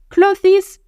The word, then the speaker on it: clothes: Ça ne se dit pas clothes. Tu dis pas le th et ES à la fin, tu le dis pas.